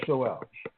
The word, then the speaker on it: SOL: It's not S-O-U-L, it's S-O-L. Like the other acronym. Okay, Chrism, okay. Like the sun. Not the other. Yeah, I know. Yeah. I thought it was soul as well because it wasn't sol. Sol.